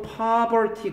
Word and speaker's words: poverty: relative poverty 갑니다. poverty는 빈곤이라는 뜻이에요. property는 특성, 재산이라는 뜻이 됩니다. 그러니까 스펠링이 좀 비슷하잖아. poverty 발음도 쓴 거구나. 발음 써. poverty. 리을받침 써버려. 리을받침. poverty. 이건 property 이렇게 돼요.